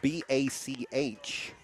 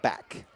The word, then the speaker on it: Bach: Audrey's last name is spelled B A C H. a name that sometimes you see pronounced Bach, but her family calls it back.